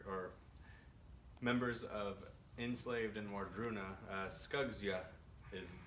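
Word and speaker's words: Wardruna: from the singer or members of enslaved and wardroona is how you'd pronounce that this is the first album that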